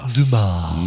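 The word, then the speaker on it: Dumas: it's Damas yeah Alexander Damas I had no idea that was that guy so should pronounce that last s Alexander Dumar Dum Alexander dumbass uh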